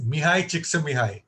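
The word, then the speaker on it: Mihaly Csikszentmihalyi: And if you want to know how to pronounce his name, it's Mihai Csikszentmihalyi.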